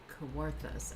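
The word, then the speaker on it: Kawarthas: I don't know if I'm saying that correctly. Heart of the what? Koworth. How do you spell it? K A W A R T H A S. Um but it's Ontario. Oh, CJ says I did it right.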